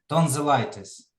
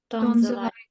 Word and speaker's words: tonsillitis: Tonsillitis. Tonsillitis. Значить, отут виходить, да, на І.